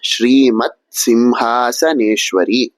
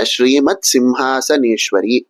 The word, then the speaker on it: ஸ்ரீமத் சிம்ஹாசனேஸ்வரி: இந்த நாமத்தை எப்படி உச்சரிக்கணும் அப்படின்னா ஸ்ரீமத் சிம்ஹாசனேஸ்வரி அப்படின்னு சொல்லணும். இங்க வரதெல்லாம் வெறும் சதான் ச இல்ல. அதனால ச அப்படிங்கற அக்சரத்தை மட்டும் சொன்னா போதும். ஈஸ்வரி அப்படிங்கிற இடத்துல மட்டும் இஷ் அப்படிங்கிற எழுத்தை சொல்றா போல இருக்கும்.